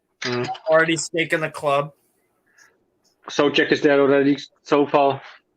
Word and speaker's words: Souček: People who speak the English language always say Souček or something. I don't know how to say it, but it's Souček. Souček.